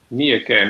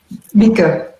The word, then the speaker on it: Mieke: Let me see, my next we have a question for Mieke, maybe you can tell me now if I'm pronouncing your name correctly. Mieke.